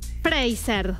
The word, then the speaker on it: Fraser: Brendan Fraser.